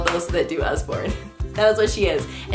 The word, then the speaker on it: Usborne: Usborne, did I say it right? I used to say Useborne and I looked up how to pronounce it so I wasn't embarrassed. It's the What If Monster.